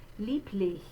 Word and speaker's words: lieblich: remind you that even though you have a B spelling, it looks like lieb, it's lieb. We're going to say that B like a P. Lich is the second syllable. You can see a capital I in the phonetic symbol there. That is the vowel sound I, like in our word is.